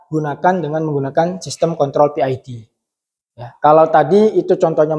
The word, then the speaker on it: PID: I bacanya PID begitu ya. Ejaan English ya. PID.